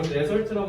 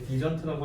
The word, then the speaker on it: dessert: 얘들아, 이거 데설트라고 하면 사막이란 대천사가 나와. 발음할 때 디저트라고 하셔야 돼요.